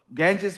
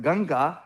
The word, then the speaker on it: Ganga: And the reason why it is called Ganges Mahamudra is because of the location where it was taught. And then we pronounce it Ganga. Now I become American. I say Ganges.